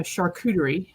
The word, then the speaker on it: charcuterie: and vendors and um a charcuterie you said it right I did I'm so proud of myself I didn't call it a coochie board all the time although